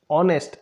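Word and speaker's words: honest: ऑनेस्ट एच क्या है यहां पर कंसोनेंट है लेकिन साउंड किसका आ रहा है वोवेल का ऑनेस्ट एच साइलेंट रहता है ऑनेस्ट ओ ओ का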